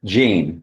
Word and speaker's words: Jean: Jean. Yes, sir. J E. Yes, sir. That's pronounced several different ways, but you pronounce it Jean.